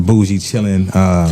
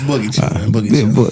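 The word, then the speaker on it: Boogie Chillen: It's boogie chilling. Boogie chilling. You're right. Because Glenn to get on me. Boogie chilling. Oh yeah, you got to say it right because John Lee Hooker.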